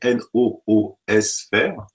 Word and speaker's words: noosphère: Alors, ça s'écrit N-O-O-S-phère, noosphère.